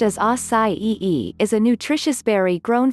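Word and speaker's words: açaí: Acai, pronounced as acai-e, is a nutritious berry grown from a palm tree in the Amazon rainforest.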